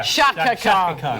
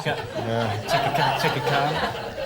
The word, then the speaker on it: Chaka Khan: Shaka Khan. Yeah. Chaka Khan.